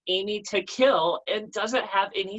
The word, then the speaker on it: Amy Takill: And so the whole name is Amy Takill, because if you say it right, it's aiming to kill.